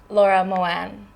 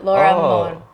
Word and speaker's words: Laura Moane: kalau hilangin i-nya but how I pronounce my own name is Laura Moan or Laura Moon aku juga enggak tahu